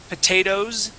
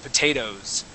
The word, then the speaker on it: potatoes: that e s but we would go straight from an o sound to a z sound potatoes okay um all right